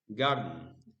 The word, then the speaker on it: garden: Garden. The first syllable is stressed.